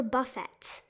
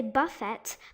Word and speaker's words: buffet: it should be ballet the same goes for buffett some people say buffett but it's actually supposed to be buffet now the twelfth one